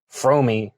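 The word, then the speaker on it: Fromme: That's it's pronounced Frome. Yeah, Frome. Squeaky Frome. That's great. Yeah, because everybody screws that up over the years.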